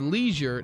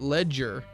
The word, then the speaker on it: leisure: OU Harleyman on Twitter tweets, @Todd on Franchise, it is leisure, not ledger. Didn't say ledger, I said leisure, which is how they pronounce it across the pond.